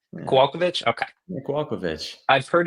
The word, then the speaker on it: Kowalkiewicz: I'm not going to try to pronounce. I'm bad with Polish Kowalkiewicz. names. Yeah, Kowalkiewicz.